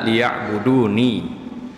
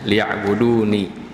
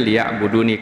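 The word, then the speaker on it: لِيَعْبُدُونِ: menyembah kepadaku, gitu ya, liya'buduni. Cuman karena akhir dengan nun saja, sering kita baca dengan kita harus membacanya liya'budun, begitu ya. Sebenarnya liya'buduni kasrah ini menunjukkan artinya hendaklah mereka mengabdi kepadaku, seperti itu, liya'buduni, kepadaku.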